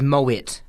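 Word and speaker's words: Moët: right go on uh MO is is Moet it's exactly how it's spell yeah so everyone's trying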